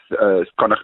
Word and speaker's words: Connacht: Is that how you pronounce the team's name? Uh Connacht, yeah. Well, it depends if if you want to throw an Irish accent in, uh Connacht or Connacht is depends what part of part of Ireland